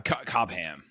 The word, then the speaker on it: Cobham: Cobam. Anyway, I just thought it was really funny. I had to break that one down, but yeah, of course. Cobam.